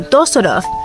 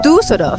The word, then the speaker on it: Düsseldorf: Parce que la première fois, je l'ai prononcé Dusseldorf. Parce que je pensais à la lettre u. Mais mon ami allemand m'a dit, Oh, non, ce n'est pas ça ! Il y a deux points au-dessus. À l'origine, ça se prononce u. Mais il faut plutôt le prononcer comme « ü ». Ça devient donc Düsseldorf.